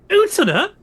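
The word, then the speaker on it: Utena: and the anime and Utina. Utina. Yeah, that's how it's said.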